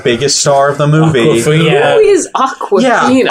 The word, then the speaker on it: Awkwafina: It's spelled like AWK, like she's awkward. Awkward.